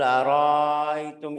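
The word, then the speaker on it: أرأيتم: Araitum, qul araitum in ahlakani Allah. Mad ini namanya maddul khafi. Maddul khafi tapi bukan di riwayat kita. Kita bacanya qul araitum. Hamzahnya jelas.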